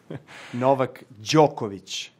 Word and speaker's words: Novak Djokovic: is just the beginning how does novak djokovic pronounce his name novak djokovic try it at home how does novak djokovic